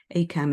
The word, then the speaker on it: ACAMH: ACAM is spelled ACAMH.